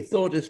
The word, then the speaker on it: Thordis: introduce me well why don't you try me thordus marie sophief friedrichsen got it got it in one uh so the pronunciation was correct this time i think too